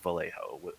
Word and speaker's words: Vallejo: uh Megan says yeah you pronounce pronounce the L in Vallejo so it would be like Vallejo like the actual L sound.